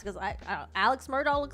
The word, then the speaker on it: Murdaugh: who know about the Murdoch family Legacy are the people that like pronounce the name Alec instead of Alex and Murdoch instead of murdahl because uh when the